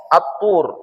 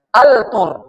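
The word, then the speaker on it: الطور: Ah, maka dia dilebur jadi atur. Ah, bukan lagi altur, tapi atur.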